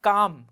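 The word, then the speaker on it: calm: काम। काम की जो सिचुएशन होती है वो कैसी होती है? बिल्कुल शांत। काम को क्या बोलते हैं? शांत, है ना। एल साइलेंट रहता है यहाँ पर।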